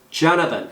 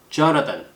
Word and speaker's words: Jonathan: 그런데 Jonathan 이거 발음할 때는 돼지꼬리 발음이 나요. 그래서 실제로 이빨 사이에다가 혀를 끼워 주셔야 돼요. Jonathan 액센트 이름절이죠. Jonathan 발음 주의하세요.